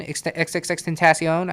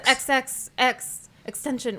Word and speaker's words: XXXTentacion: one does right and everybody just says xxx extension whatever nobody no one says yeah right exactly you you like this this guy i don't think biggest fans argue about it i'm pretty sure that there's a video where he says like how do you say it and he says xxx tentacion like he says it right and who who the